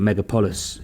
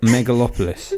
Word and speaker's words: Megalopolis: Was it Megapolis? Is it how you say it? Megalopolis.